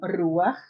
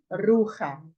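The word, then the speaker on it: רוּחַ: tenho aqui a expressão ruar perceba que eu falei ruar e não rur Ok vamos lá eu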